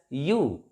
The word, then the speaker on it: ewe: This word EWE, this is pronounced as you.